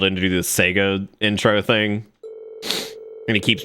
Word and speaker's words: Sega: Segort. Cut. Sorry, was there something wrong with that? It's actually pronounced Sega, Ted.